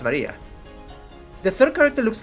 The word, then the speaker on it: Maria: Of course, that is pronounced Maria.